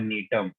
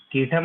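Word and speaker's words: Gnetum: इसके अंदर जो एग्जाम्पल्स आते हैं इनका नाम है नीटम। कीटम मत सुन लेना, कीटम झील आपके यहाँ है आगरा में, ये नीटम है। नीटम जी साइलेंट है।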